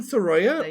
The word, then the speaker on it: Sorolla: It's Wim Soya or you could say Wim Soya.